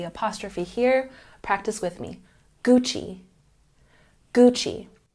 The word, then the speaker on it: Gucci: here practice with me Gucci Gucci we're making the CH sound even though it's a double C this is an Italian